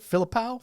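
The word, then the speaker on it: Philippou: yep Danny and Michael philipo Phil I said it wrong again what is it filipow Philip philipo philipo that's what it is filipo that's how they said it sensing an outtake here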